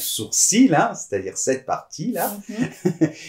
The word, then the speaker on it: sourcil: peut voir par exemple le mot sourcil moi je le prononce sourcil hein c'est-à-dire cette partie